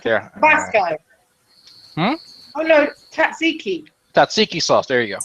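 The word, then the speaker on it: tzatziki: I have a lamb guru with the uh I can never pronounce the name. The taski sauce or I think it's called here. I have some right there. Hm. Oh no. Tatsiki.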